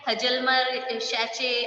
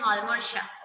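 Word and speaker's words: Hjalmar Schacht: हजलमर शैचे ऐसे मत बोलना इसको, इसका प्रोनाउंसिएशन है हॉलमोर शाह, ओके।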